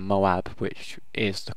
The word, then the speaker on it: Moab: right stress in my last video for saying Moab which is the correct pronouncation but we won't go into that this